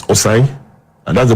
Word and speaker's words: Osei: So once he joins, it's Osei, and that's the pronunciation.